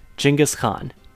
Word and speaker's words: Genghis Khan: You all know the Khan I'm talking about though, Genghis Khan, and yes, I'm pronouncing it the Mongolian way.